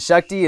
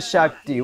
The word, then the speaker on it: Shakti: go in peace and Shakti is a short a same with Lakshmi it's like lucky Lakshmi